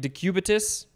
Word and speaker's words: decubitus: adequate blood supply by prolonged pressure called also decubitus ulcer chair did i say that right decubitus i said it right sweet uh those sound